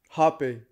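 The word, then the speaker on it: rapé: burned what was that that that was um happy happy it's spelled r-a-p-e but it's pronounced happy happy and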